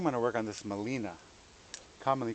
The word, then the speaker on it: Gmelina: time to realize that Molina was actually spelled with a G but the g is silent you don't pronounce it this tree has almost